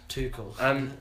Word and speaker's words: Tuchel: how is it pronounced? Tuchel.